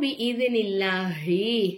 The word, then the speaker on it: بإذن الله: நஸ்ஸலஹு அலா கல்பிக பிஇذனில்லாஹி அல்லாஹ்ங்கிற வார்த்தைக்கு முன்னாடி உள்ள எழுத்துக்கு வந்து ஜேரு வந்த காரணத்தினால அல்லாஹ்ங்கிற வார்த்தையை நம்ம மெல்லினமா உச்சரிக்கணும். அப்போ பிஇذனில்லாஹி அப்படின்னு நம்ம சொல்லணும்.